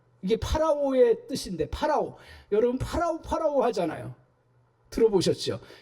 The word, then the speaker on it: 파라오: 여러분 파라오 하잖아요. 들어보셨죠? 이게 이제 한국식으로 발음해서 바로라고 얘기하는데 파라오예요. 파라오가 뭐죠?